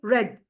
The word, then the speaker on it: read: So here read is written not written like this here written the same like read but we when we pronounce we say red read red.